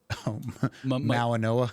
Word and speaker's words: Mauigoa: Mawanoa.